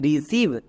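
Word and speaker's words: receive: একই রকমভাবে আর ই সি ই আই ভি ই, রিসিভ।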